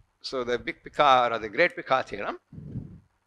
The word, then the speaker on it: Picard: the icard yeah so D is never pronounced R is just touched like this spirit because Laura